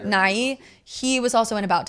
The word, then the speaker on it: Nighy: And Bill Nighy, I think is how you say his name. Yeah. Nighy.